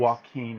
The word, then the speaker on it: Joaquin: Joaquin. Joaquin Phoenix. It's It's pronounced kind of like a Spanish.